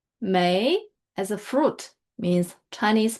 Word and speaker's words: 梅: So and are the radicals of may and may are the radicals of may.